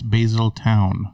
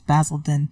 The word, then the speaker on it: Basildon: Basildon X Essex England did I say it right no it's basil town no it's basil then I was calling a